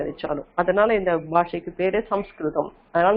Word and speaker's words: சம்ஸ்கிருதம்: அதனால இந்த பாஷைக்கு பேரு சம்ஸ்கிருதம். அதனால நம்ம சான்ஸ்கிரிட்னு சொல்றதை விட சம்ஸ்கிருதம்னு உச்சரிக்கிறது தான் ரொம்ப கரெக்டானது. சம்யக் கிருதம், கிருதம்னா செய்யப்பட்டது.